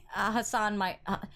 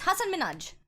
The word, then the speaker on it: Hasan Minhaj: like like you know it's not Hasaan me not like Hassan my it's Hasan Minhaj minute Minaj see I